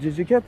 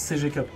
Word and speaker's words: CG Cup: Ah, votre GG Cup là? Oui, alors ça se prononce CG Cup.